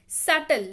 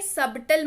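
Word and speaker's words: subtle: सटल, देखिए इसको सटल पढ़ते हैं, ठीक है, सबटल मत पढ़िएगा।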